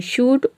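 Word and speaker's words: should: यहाँ पे हम एल को प्रोनाउंस नहीं करते हैं, केवल डी को प्रोनाउंस करते हैं, शूट, वुड, कुड।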